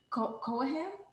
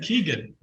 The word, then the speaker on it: Keoghan: Barry Cohen? Yeah. Barry Cohen. Cohen? Cohen. That's how she says it. I think it's wrong. I've always said Keegan. Barry Keegan.